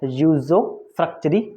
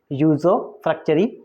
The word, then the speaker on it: usufructuary: इसका जो प्रोनाउंसिएशन जो करेक्ट है ना वो है यूजो फ्रक्चरी मॉर्गेज, यूजो फ्रक्चरी मॉर्गेज।